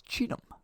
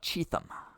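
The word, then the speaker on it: Cheatham: The H is silent. It's cheetah, not cheetum.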